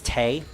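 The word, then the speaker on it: Tewi: have a speaking light this is Telly or Tay are we supposed to pronounce it I know it's Tay I sometimes pronounce it as Terry I don't have any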